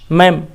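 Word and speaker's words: ma'am: मैम भी बच्चे बोल रहे हैं, मैम, वो जो मैडम है वो डी छिप गया, साइलेंट हो गया, तो यहाँ हमने एपस्ट्रॉफी दे दिया मैम। वही बच्चे मैम बोलते हैं, डी साइलेंट कर दिए।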